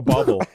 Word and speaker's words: bauble: Like a bauble. A bauble? A bauble. Bauble. You're putting some R's in there.